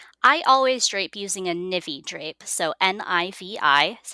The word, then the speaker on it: Nivi: drape your sari i always drape using a nivvy drape so n-i-v-i is how it's spelled and the navy drape actually did originate in andhra pradesh so